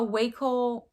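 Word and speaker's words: Wacoal: 25 next we have a waco i think that's how you say it w-a-c-o-a-l uh black underwire sports bra size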